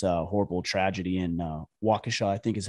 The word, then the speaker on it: Waukesha: recording is this uh horrible tragedy in uh waukesha i think is how it's pronounced but you know i think most of